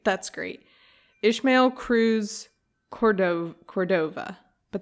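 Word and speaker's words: Córdova: great ishmael cruz cordov cordova but there's an accent on the first o cordo cordova court could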